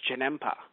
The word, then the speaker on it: Janemba: Because, okay, I look on Wikipedia and I see Janemba. But it's interesting because the way they pronounce it in the English version, for some strange reason, they pronounce it as Janempa.